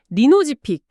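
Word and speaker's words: Lynozyfic: 리노지픽 좀 더 정확하게 발음하면 린오지픽에 가깝습니다.이 약물은 다발골 수종 중에서도 좀 더 치료가 어려운 환자들을 대상으로 합니다.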